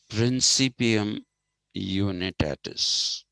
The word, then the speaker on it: principium unitatis: is a unity is the principium unitatis but you need tardis that'll be the latin pronunciation okay and as per